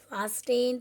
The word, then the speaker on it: fasten: तो हम ऐसे नहीं बोलते ना, फास्टेन, विस्टल, विस्टल, टी बोलते हैं, उसमें नहीं बोलते क्योंकि टी वहाँ पे क्या है, साइलेंट. हम कैसे बोलते हैं उसको, फास्टेन, तो टी पर ज़्यादा स्ट्रेस नहीं देते.